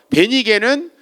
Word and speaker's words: 베니게: 베니게는 일반적으로 말하는 우리 페니키아라는 말에 성경에서만 쓰는 발음입니다.